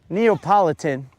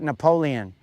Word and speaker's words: Neapolitan: for the record, guys, I believe that my brother would call that Napoleon, but I'll have to verify uh sometime, but I'm pretty sure that dummy, he calls it Napoleon, Napoleon Ice Cream.